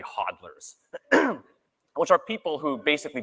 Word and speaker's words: hodlers: speculators and hodlers or as Craig calls them hooders I don't know why he pronounces it that way it's it's obviously hodlers which are people who